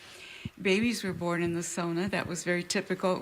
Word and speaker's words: sauna: Because I grew up saying sauna, and when I came here, Tia was like, no, it's sauna.